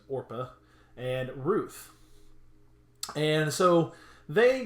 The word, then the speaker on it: Orpah: one name or per not Oprah as a lot of people like to say her name is Orpah and Ruth and so